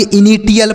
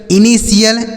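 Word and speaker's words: initial: क्या पढ़ेंगे, TL, spatial पढ़ेंगे, इनिटियल पढ़ेंगे, पार्टियल पढ़ेंगे, लेकिन ऐसा नहीं पढ़ना है, गलत उच्चारण होता है। इसे आपको ऐसे पढ़ना है जैसे हमने बताया, पार्शियल, इनिशियल, स्पेशियल।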